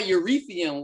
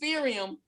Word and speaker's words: Ethereum: ] everybody talking about urethium whatever the hell that is sirium yeah eureka uretha i'm gonna need you to pronounce these words correctly what is it ethereum i'm gonna need you